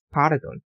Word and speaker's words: Pardon: 음절 한글은 전부 이런 식으로 되어 있는데 그러면 여기서는 룰을 강하게 읽고 여기는 단을 강하게 읽고 여기는 발을 강하게 읽고 쌀 룰 돈 당 돈 바르 돈 여기서는 Esperanto estas malfacila.